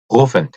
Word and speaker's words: rufen: 목 안에서 소리가 나죠. 루펜. 자, 이걸 그 조금 부정확하게 들리면 후펜 정도로 들리는 수가 있다고 하네요. 근데 글쎄 어떻게 들으면 후펜인지 모르겠지만 그 이게 목 안에서 나는 소리 때문에 그런 것 같아요.